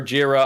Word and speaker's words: Jira: uh pronounce uh jira as like jira or jira i pronounce it piece of